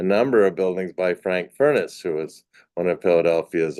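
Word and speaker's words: Furness: buildings including a number of buildings by Frank furnace who was one of Philadelphia's own and that is in fact how he pronounced his name because I was once corrected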